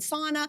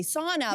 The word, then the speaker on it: sauna: We have this place that we love to go to for cold plunging and sauna. And of course, in English, we say sauna, but if you are Finnish, it's sauna.